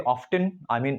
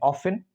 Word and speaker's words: often: We can say often, we can say tea, often, and this pronunciation is mostly made by Americans, and often, Britishers, they omit it. They do not pronounce T.